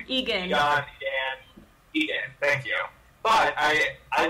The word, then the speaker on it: Egan: I don't know how to pronounce Egan. That name. Egan.